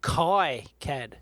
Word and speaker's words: KiCad: KiCad. Have you noticed that the industry is kind of split down the middle of how they pronounce it?